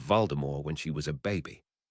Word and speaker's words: Voldemort: Both Mr. Stark and Director Fury pronounced Voldemort with a final t.